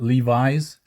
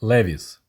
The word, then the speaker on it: Levi's: So most Soviet people were saying not Levi's, but Levi's. So of course, Levi's rhymes with Davis.